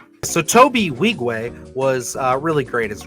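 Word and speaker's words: Nwigwe: no wait one second okay so the end is silent so Toby wigwe was uh really great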